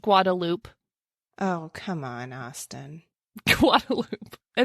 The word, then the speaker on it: Guadalupe: you read it, you were like, that is Guadalupe. This is how Guadalupe is spelled all over the world. Yeah. Nope. Come to Austin. It's just Guadalupe.